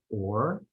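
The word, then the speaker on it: עור: word for skin is written as with ayin vav resh, which is pronounced or.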